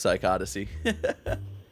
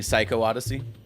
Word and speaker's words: Psychodyssey: it's so sad oh so that's how you pronounce psychodyssey were you saying psycho Odyssey oh yeah I love